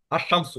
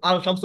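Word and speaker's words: الشمس: না আলিফ ইয়া সরাসরি আমাদের শামসি হরফে ধরবে আশামসু যেমন আলশামসু হবে না আলশামসু আল নাস হবে না আর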